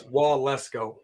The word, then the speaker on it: Waletzko: It sounds like Wall Let's Go, but it's Waletzko.